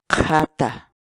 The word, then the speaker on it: qhata: de videos en la que te enseñamos a pronunciar algunas palabras en quechua. Así que nuestra palabra del día por hoy es Jata, jata, jata, la palabra quechua.